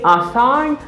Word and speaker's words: assign: a sign i say assign because the letter g is silent in this word okay now let's make